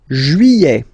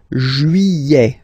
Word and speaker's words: juillet: Juillet. Okay, you get this double L here. Yeah. Juillet. Juillet. Don't pronounce this final T, E-T here at the end.